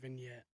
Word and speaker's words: vignette: I I call them a skit things and and this that only because you don't know how to say the word vignette.